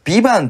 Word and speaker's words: VIVANT: タイトルが 2 番ビバンと VIVANT っていうあーなるほどなるほど最後の T は発音してないんだ発音一応フランス語だっけなんですけど多分発音しないとなるとそう